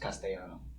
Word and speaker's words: Castellano: really say your name it's uh pronounced castano castano yeah all right that's pretty